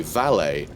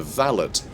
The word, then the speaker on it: valet: both very different things so valet although the etymology is identical um the the usage of the terms has changed drastically and that tends to correlate with pronunciation so a valet is somebody parks a car but a valid is the gentleman's gentleman right it's your it's